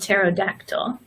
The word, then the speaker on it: pterodactyl: just like in Spanish we also have the silent P for the words that come from when pneumonia psychology and pterodactyl the next letter we